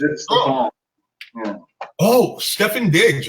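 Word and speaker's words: Stefon: Like his name is actually Steve, but he pronounced it Stefan.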